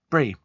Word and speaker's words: Bree: My girlfriend, is it Bree or Bray? Do you pronounce it Bree or Bray? Bree.